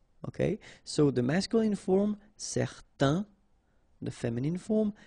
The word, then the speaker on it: certain: Okay, so it's nasal in your nose, un. Okay, if you add this at the end, then it will change the thing, and then you will pronounce it n.